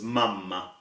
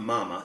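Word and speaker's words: mamma: that we learned was mama now as you hear we have a double M it's not Mama it's mama and this is extremely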